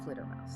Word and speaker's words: PhldrmauZ: Fulder Dermausi, which for you listening is spelled P H L D R M A U Z, but it's pronounced Dr. Flutter Mouse.